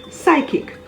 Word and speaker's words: psychic: him h-y-m-n condemn c-o-n-d-e-n p is silent if it appears at the beginning of a word before an s as in psalm p-s-a-l-m psychiatrist p-s-y c-h-i-a-t-r-i-s-t psychic p s y c